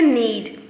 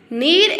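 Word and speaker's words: knead: Need इसमें जो है के जो है वो साइलेंट आ रहा है. The word is need. आप इसी तरह देखते हैं नाइफ. नाइफ में भी के एन होता है, बट के इन द नाइफ is silent to. And here also in द नीड के इज to silent. So नीड में के साइलेंट होगा.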